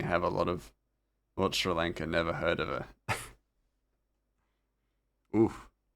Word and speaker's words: Sri Lanka: Surely Frosty is gonna watch our bowlers demolish Shrylinka again. Ooh, I gotta go. Oh, Ratchet Ratchet mispronounced Sri Lanka and then ducked out.